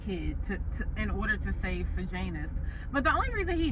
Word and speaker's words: Sejanus: His name is Sejanus. That's how you say his name, Sejanus.